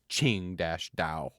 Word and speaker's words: Tsingtao: just say and then it's pronounced Ching Dash da so it's teaching you